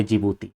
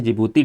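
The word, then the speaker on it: जिबूती: ये देश मिलता है यह जीभूति लिखा जाता है दी जी बूटी लेकिन पढ़ा जाता है जीभूति दी साइलेंट हो जाता है इसका जो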